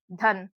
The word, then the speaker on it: धन: धन तो यहां पर ध में हल्की आ की ध्वनि सुनाई रही है और न में आ की ध्वनि नहीं सुना रही होगी।